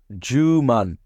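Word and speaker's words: 十万: And it's pronounced Juman. So you can think of a Jewish man.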